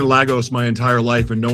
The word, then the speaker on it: Lagos: Let's keep um, you know, you know, going through different um parts of Lagos Island."